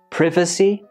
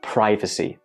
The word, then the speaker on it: privacy: again both are acceptable this one can be privacy or privacy both are acceptable in British English however I think in